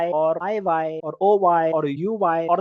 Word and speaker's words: hay: It's not high, H is silent, so I.